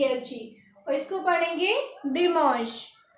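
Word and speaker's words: dimanche: आई एम ए एन सी एच इसको पढ़ेंगे दि मश तो हमने संडे को पढ़ा दमस और आज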